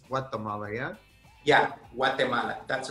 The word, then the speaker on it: Guatemala: i say it right it's not guatemala like we say in u.s it's guatemala yeah guatemala that's right